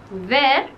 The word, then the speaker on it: vert: El verbo ver, ver, en francés es gusano. Verde se pronuncia ver igual como ver y ver.